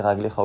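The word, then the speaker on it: רגלך: Et raglecha, même si c'est prononcé raglecha au pluriel, il n'y a pas de yud. Donc ça s'écrit raglecha comme s'il y en avait un seul.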